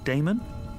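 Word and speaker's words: Daemon: your card it says Professor a d a e m o n how do you pronounce that Damon if you prefer and this address I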